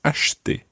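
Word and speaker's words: acheter: verb to buy okay it's spelled sort of like but you run that together and it becomes ashte so we've got le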